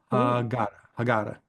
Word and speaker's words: Haggadah: So Karen in the chat pronounced the word for me because she's always good with pronunciations. I suck. Haggadah.